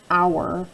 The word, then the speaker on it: hour: make that ow sound, like an hour right there. We have a silent H in that word, extra tricky word to spell.